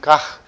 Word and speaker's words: Kac: I tried it on Google. It was saying Kach, right? There's Polish.